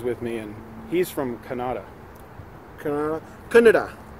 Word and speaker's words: Kannada: me, and he's from Kannada. Kannada. I always say Kannada. I've been pronouncing it wrong this whole time. Because, you know, Canada, I think of... Canada. I think of the country above me.